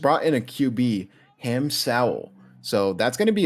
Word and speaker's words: Sowell: As you get a sack Sowell. here. It's basically Howell, but pronounced with an S. It would be Saul. It's Sowell.